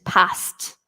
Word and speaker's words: passed: sound at the end passed okay so we don't pronounce the e in this case whereas in number three